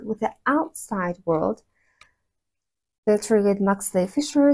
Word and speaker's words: pterygoid: The pterygoid maxillary fissure starts with P. Well, the P is not pronounced, but it's spelled.